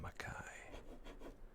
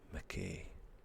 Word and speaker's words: Mackay: Mackay. You know, in Canada, they pronounce that McKay, and it drives me mental every time I hear it.